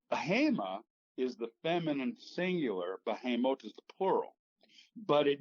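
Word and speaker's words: בהמות: Okay, in Hebrew, that's pronounced behemoth.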